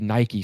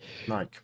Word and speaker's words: Nike: And so, you know, say Inter signs a big Nike star or Nike star as a lot of Europeans pronounce it, like Nike, you then have Jordan, right?